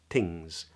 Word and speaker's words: things: big thing is that the tongue only touches really lightly so don't press the tongue into your teeth that's a common mistake to say so then it sounds a bit more like almost like a tea like things things things but it's not it's things and I achieve that by touching the tongue really lightly against the teeth things um and the